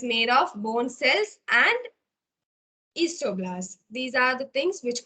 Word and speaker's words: osteoblast: You have to pronounce this thing as osteoblast. The last paragraph you can see made up of bone cells and osteoblasts. So it is not osteoblast. You don't have to pronounce like this. It is osteoblast.